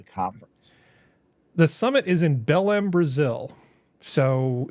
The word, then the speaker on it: Belém: The summit is in Belém, Brazil. So it's COP30. Belém, B-E-L-M? Yeah. Spell it.